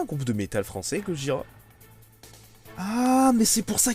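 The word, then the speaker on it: ゴジラ: D'ailleurs, Godzilla, au Japon, ça se prononce Gojira.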